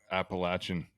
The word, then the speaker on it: Appalachian: like that you know Appalachian did I say it right yes you did I think you got it Appalachians just think Appalachia coming at you Appalachia